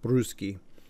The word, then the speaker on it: Brzyski: His last name should be pronounced Brzyski.